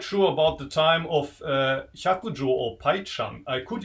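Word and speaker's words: Hyakujō: The main character of the story in Japanese, the name is pronounced Hyakujo. I think in Chinese you say Pai Chang.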